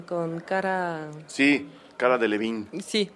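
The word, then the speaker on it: Delevingne: Sí, cara de Levine. Sí, de hecho yo le pronuncio en francés. Cara de Olivigne.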